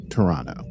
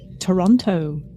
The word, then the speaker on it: Toronto: that back to Toronto which by the way I've been pronouncing like an American this whole time apparently you're supposed to call it Toronto I know that and